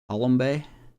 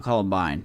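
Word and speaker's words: Coulombe: very good Denny colombe is that how he say his name colombe colbe not Coline colbe Ryan stanic I don't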